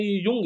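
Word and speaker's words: Jung: जुंग और अपने teacher इसको जुंग पढ़ते जब असली में युंग है अंग्रेजी में बहुत बार है ना वाइ को ज से लिखा जाता है तो आपको यह चीज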